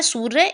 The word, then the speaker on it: सूर्य: उसके बाद इसका उच्चारण जो ऊपर होता है सूर्य, इसमें व्यंजन से पहले इसका उच्चारण होता है, जैसे कि सूर्य, स र म शरम, मा र ग मार्ग, ठीक है।